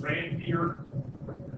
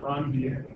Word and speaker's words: Ranvier: I know it looks like it should be pronounced Ranvier, but it's actually named after a Frenchman who discovered these inner nodes and in the nodes. So it's the node of Ranvier.